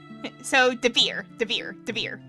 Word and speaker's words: Devere: Okay, so Devere. That's how it's pronounced.